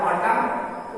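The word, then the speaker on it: autumn: जैसे ऑटम ए यू टी यू एम एन, एम के बाद है n साइलेंट होगा, इसलिए यह इसका सही प्रोनाउंसिएशन हो जाएगा ऑटम।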